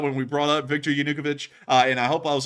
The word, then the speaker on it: Yanukovych: I think I said Yanukovych or something like that. It was something completely different. So then I finally learned it was Yanukovych, which is something that